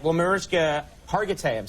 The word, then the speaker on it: Hargitay: by the way okay all right well mirzka Hargitay I'm saying it right Hargitay perfect okay perfect thank you very much for